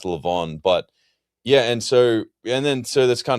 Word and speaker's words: levain: So yeah, well, it's pronounced Levon, but yeah, so that's kind of funny.